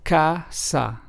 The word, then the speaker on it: casa: For example, casa, which means house in Spanish, is pronounced as casa.